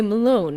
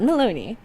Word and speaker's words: Malone: But now we know it's actually Malone and not Maloney.